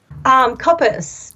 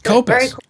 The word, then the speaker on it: Koppes: Is it Koppes? Koppes. Koppes. Yeah, that's Dutch. Okay. All right. SNOW KOPPES.